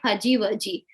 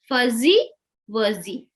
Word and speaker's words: fuzzy wuzzy: most of the time whenever this z z sound comes they uh pronounce it as ja pajibaji they say fujiwaji actually it is not fuji z sound doesn't makes j sound it will make a z sound z okay fuzzy wuzzy